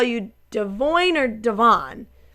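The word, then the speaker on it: Devoin: Devoyne.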